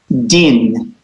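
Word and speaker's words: דין: This is the final nun that has the N sound. So it's din, Din.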